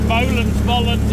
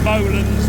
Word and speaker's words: Bolens: Maybe our American friends will tell us that it's a Bolens, not a Bolens, but I like Bolens and I'm staying with Bolens for me. I prefer the sound of it.